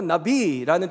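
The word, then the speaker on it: נביא: 그게 아니에요 진짜 선지자라는 히브리어로 선지자가 나비라는 뜻이에요 우리가 날아다니 나비랑 발음이 똑같은데요 그 나비가 무슨 뜻이냐면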